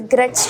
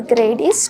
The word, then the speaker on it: Gerdy: It is called as Gret's tubercle. Yes, Gret's or Gerdy's tubercle. You can pronounce it in both the ways.